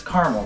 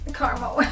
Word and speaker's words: caramel: oh my great carel it's caramel mom carel you would never say carel you never okay okay